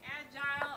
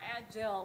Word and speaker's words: agile: Agile, using the British and Canadian and typical pronunciation here, I'm using to refer to the methodologies. Agile, the American pronunciation, I'm using to refer to being flexible, being able to respond easily to change, being graceful, which is something I'm not.